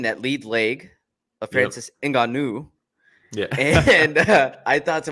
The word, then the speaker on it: Ngannou: Francis Ngannou, as he pronounces it.